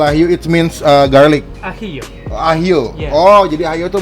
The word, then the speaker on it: ajillo: Pollo al ajillo. Oh, bacanya pollo. Ya, ini Pollo. bahasa Spanyol ya. Pollo al ajillo. Ya, artinya ayam Oke. memasak dengan bawang putih. Oh, al ajillo it means garlic. Ajillo. Ahio.